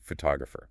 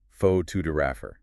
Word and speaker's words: photographer: Now change the word to photographer. Oh, right. It changes completely. The stress shifts entirely to the second syllable, pho-to-grapher.